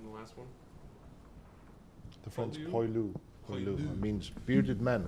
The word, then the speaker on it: poilu: How do you pronounce that in the last one? The French Poilu?